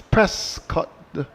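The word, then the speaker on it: Prescod: the offside for one so he's press cut this is p r s c o d so no T there there's Prescot and Prescot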